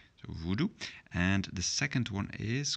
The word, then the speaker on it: voodoo: here's two of them this voodoo comes from English and we're going to just pronounce it as an English who do voodoo and the second one